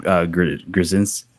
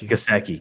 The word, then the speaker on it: Gesicki: Grzinski. What was his name? Gesicki. That was Gesicki.